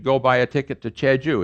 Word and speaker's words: Jeju: ticket to che ju here's what you do you write a chad ju and i'll write it down for you chad joo and they write it down in english for you and the korean writes down j-e-j-u it's the same darn